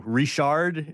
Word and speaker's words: Richard: right but somehow like you mispronounce uh you know rishard instead of Richard gas and you're a